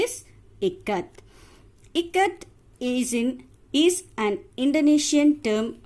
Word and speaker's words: Ikat: So the pronunciation of I-K-A-T is Ikat.